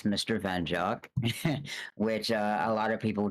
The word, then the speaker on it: MrVenjok: you a little bit wow as a writer pronounced it's Mr van jock which a lot of people do have a